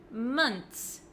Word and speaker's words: months: the h months months make sure you don't pronounce the O in a month like an O Okay so as you